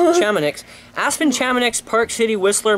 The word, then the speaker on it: Chamonix: Chamoix? Chamonix.